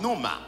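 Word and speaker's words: πνεῦμα: il v dire sauf ou bien vend il prononcé comme noma mais en hébreu en hébreu il dit c'est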